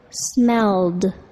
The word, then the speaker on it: smelled: The ed verb ending sounds like a d, smelled.